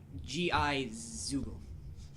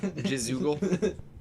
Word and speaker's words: Gizoogle: G-I-Zoogle. Gizoogle. Jizoogle? No, it's Gizoogle.